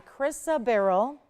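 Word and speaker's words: chrysoberyl: effects you'll ever see in a cat's eye chrisa Barrel pronounced chrisa barrel and it's going to be 71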